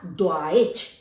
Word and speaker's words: Deutsch: जैसे मान लीजिए DEUTSCH यानी ड्वाइच। ड्वाइच आपकी जर्मन भाषा को कहा जाता है, जो हम सीख रहे हैं जर्मन भाषा, तो इसका उच्चारण होगा ड्वाइच।